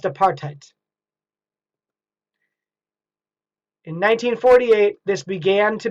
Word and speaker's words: apartheid: government policies this was called apartheid pronounced apartheid in 1948 this began